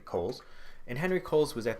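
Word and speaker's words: Cowles: is Henry Kohl's so although his name looks like it should be pronounced cows it's actually Kohl's and Henry Kohl's was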